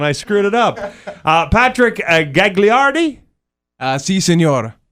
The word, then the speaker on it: Gagliardi: Patrick Gagliardi? Si, senor. Is that how you say it? That is pretty correct.